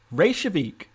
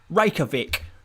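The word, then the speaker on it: Reykjavík: controversial or cut like different ways of of pronouncing racial racial vic ray shavik i quite like that ray shavik but that sounds a little bit too it doesn't sound english enough if if i'm if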